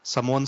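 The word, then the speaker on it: Sami: और सऊदी की जो ऑडियंस है वो उनको सैमी नहीं सामी बोलती है। हाँ नहीं मे भी हो सकता है वो नाम में कुछ होगा, क्योंकि अरेबिक प्रोनाउंसिएशन अलग होता है, अरेबिक प्रोनाउंसिएशन थोड़ा अलग होता है।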